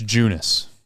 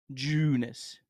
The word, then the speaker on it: Junis: hold on ju uh it's it's junis junis yep junis Jacob junis okay just like it sounds I feel like the